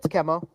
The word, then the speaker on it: Chemo: But like, remember when we had I never know if you pronounce his name Chemo or Chemo or whatever. Yeah, it's Chemo.